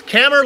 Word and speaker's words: Kammer: He said, as he's right up on the back of Jones, he said, "Soup, it's Kammer like hammer."